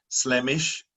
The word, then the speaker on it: Slemish: So for example, I mentioned Slemish, which is from Sleo-mish, County Antrim. There's exactly the same name in County Kerry, but pronounced Slieve-mish, referring to the range of mountains on the Dingle Peninsula.